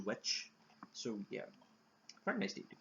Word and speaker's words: VVitch: No, it's basically the VVitch with TVs, but I think it's going to be pronounced witch.